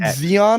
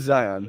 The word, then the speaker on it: Zion: that word other than we get Zeon a lot like it's wrong but but it's it is Zion so it's well zon would be with an E wouldn't it well like gas like